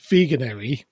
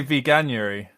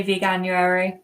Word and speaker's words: Veganuary: and i'm going to struggle to say this veganerry month in january is that the correct pronunciation i'd say veganuary yeah i would say veganuary not veganery yeah i know it's not right but i